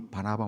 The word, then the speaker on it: 바나바: 이름, 어차피 영어 단어가 비슷하니까, 영어 발음이 비슷하니까 이렇게 외워두십시오. 바나나. 제가 목회자이기 때문에 목회자, 사도들로부터 안수받아서 파송된 1호 목회자의 모형, 1호 선교사의 모형이 바로 이 바나바 목사님.